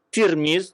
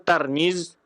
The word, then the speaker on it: Tirmidzi: dan kemudian Tirmidzi ya tirmiz itu berbeda-beda cara baca ada yang baca tirmiz dengan baris di bawah tanya ada yangis tarmiz tarmizzi tirmizzi atau turmuz tapi yang masyhur dibaca adalah tirmiz ya ini akan kita